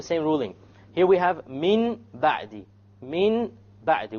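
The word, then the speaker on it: من بعد: Here we have Min Ba'di. Min Ba'di. We have Noon Sakin followed by a Ba. How do we pronounce it?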